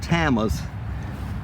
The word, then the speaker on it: Tama: These are called tamas, T-A-M-A, and there's a whole group of tamas, but the distinguishing characteristic is this white pickety border.